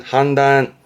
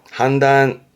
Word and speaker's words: 判断: 발음은 한단. 한단.